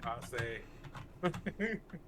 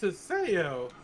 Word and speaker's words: Haseoryu: He'll call me you call me Hase. and my girl, she wants my attention. If I'm ignoring her, she'll call me. She was like Hase. I'm like, oh god, like don't do that. Don't call me that. Oh man. Well, don't make your gamer tag so hard to pronounce. It's Haseoryu.